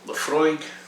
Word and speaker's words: Laphroaig: knock so just knock there so we've got laphroaig glengarry evangelical toravik and annock so i hope that helps you with your whiskey pronunciations and whenever you're ordering these in the